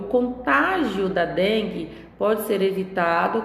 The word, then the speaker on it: contágio: tá então no na palavra contágio eu tenho a sílaba tônica no tá já na palavra contágil eu